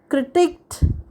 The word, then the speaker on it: critique: the word critic critic this word has a stress on the second syllable plus the double e sound as in weak critique whereas the word c-r-i-t-i-c